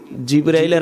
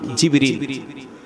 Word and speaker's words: জিবরিল: জিবরাইলের আসল নাম কি জিবরিল আসল উচ্চারণ জিবরিল জাবরাইল জাবরাইল এই তিন কারাত আমি আমার তাহকিক সর্বোচ্চ তাহকিক অনুযায়ী বলতেছি জিবরাইল যে বলা হয় এটা অশুদ্ধ উচ্চারণ এটা কি উচ্চারণ অশুদ্ধ উচ্চারণ বাংলায় লেখলেও জিবরিল লিখবেন